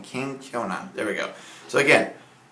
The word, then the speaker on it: kenkyona: That's the Japanese word for humble. So I pronounce it the best I can. Kenkyona.